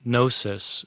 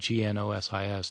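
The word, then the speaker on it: gnosis: The the term gnostic comes from a Greek word nosis spelled with a g n o s i s nosis which means knowledge.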